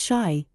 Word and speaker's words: Chi: Kai Plumber, Boilermaker, Sailor Boy, and Printer Bo Kai, pronounced Shy, by the way, is the argo for Chicago.